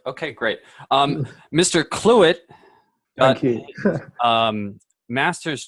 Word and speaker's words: Clewitt: I'm fine, and my name is Clewitt. Clewitt. Okay. Yeah. E-T-T? ETT, yeah. That's correct. Okay, great. Mr. Clewitt got Thank you.